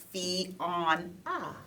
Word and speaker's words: Fiona: and it's pronounced Fiona. Fiona. So if you really paid attention in spelling class, Okay. when we were in elementary, you would know that it's Fiona. You have to pronounce every syllable.